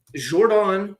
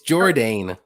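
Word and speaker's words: Jourdain: think it's dawn like I think it's jordane whoever speaks whoever you're trying to French it up a little too much it's jordane I'm pretty sure okay somebody from Canada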